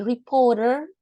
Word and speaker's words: reported: All quantities are to be reported. Remember the pronunciation with ed at the end, right? In this case, we pronounce it because the original verb ends in T. So we can pronounce this ed.